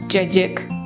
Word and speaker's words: Cacık: With the refreshing ingredients in it, cacik. Yes, this is how we pronounce it.